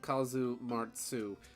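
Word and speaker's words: casu marzu: cheese it's gross um kasumatsu Sardinian pronunciation Kazu martzu literally rotten slash putrid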